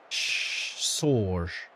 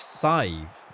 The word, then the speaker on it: Saoirse: Sorge. She is indeed, yeah. Saoirse. Is it actually? That's your daughter's name. It's Saoirse, isn't it? Is that pronounced Saj? Rhymes with 5. Sive.